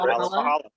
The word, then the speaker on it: Valhalla: as well as property managers for Isle of Valhalla. Is that how I'm pronouncing it? That's right. Yeah, Valhalla.